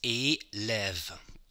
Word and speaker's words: élève: With the lève, you have the V at the end of the syllable when you pronounce it. Élève. lève. O, end of the syllable, E accent aigu, lève, end of the syllable, V, lève.